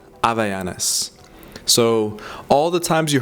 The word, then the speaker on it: Havaianas: In the West and in English, obviously the H isn't silent when you say something like Havaianas, but in Portuguese, if you were to pronounce Havaianas, you don't say Havaianas, you say Havaianas. Havaianas.